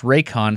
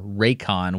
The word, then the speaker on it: Raycon: off your order and that's raycon spelled phonetically as Romeo Alpha Yankee Charlie Oscar November raycon with an N at the End by the way the